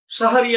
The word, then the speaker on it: সাহারি: শিন জাবার শাহ, হা জাবার হা, রজে রি, সাহারি। আর সেই শব্দটাকে আমরা বলি সেহরি। এই সেহরি শব্দের অর্থ হলো জাদু, আর সাহারি শব্দের অর্থ হলো রাতের খাবার।